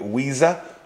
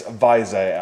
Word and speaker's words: Weiser: is spelled like that some of you in especially Stateside would call it Weezer but it's Visa I think it's a German name but they're not made